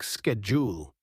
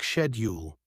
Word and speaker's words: schedule: to Australian podcasts example the word schedule in American English is pronounced like schedule while in British English it's more like shedule even though these pronunciations